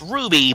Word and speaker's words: RWBY: and that became Ruby it's pronounced Ruby but it's written capital R capital W capital B capital Y you can clearly see